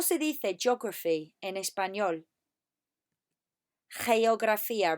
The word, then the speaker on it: geografía: Geografía. Remember, it's a hey. Hey, geography. Hey, geografía.